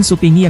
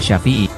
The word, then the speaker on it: Syafi'i: Iman Supingi yang dimaksud adalah Imam Syafi'i. Pelafalan nama Imam Syafi'i menjadi Iman Supingi, karena menyesuaikan dengan lidah orang Jawa kala itu.